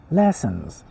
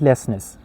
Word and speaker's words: lessons: Lessons. It's not lessness. It's not lessness. Lessness is wrong. Lessons.